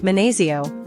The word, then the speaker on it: 만나서: The double an in man-na-SEO should sound like a prolonged N sound, not two separate N's.